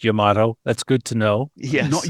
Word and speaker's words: Yamato: And for the record it is pronounced Yamato. That's good to know. Yes. Not Yamo.